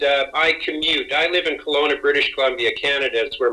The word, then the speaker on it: Kelowna: Kelowna, British Columbia. Kelowna, as in Jerry Kelowna, as Dr. Tom Costa, my teacher, used to say. So, Kelowna.